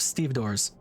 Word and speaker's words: stevedore: a small crowd of stevedores. Stevedores? I think you pronounce the second E as a schwa, right?